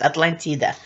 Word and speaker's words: Atlántida: it's also I believe some Latin American countries use the same word atlántida because that's what it is I just decided to use it because I like the word so it's atlántida and hero Atlanta that